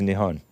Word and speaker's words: Nihon: there's other actress mess nion nion it's actually pronounced Nihon native name Oh that's endonym oh that's what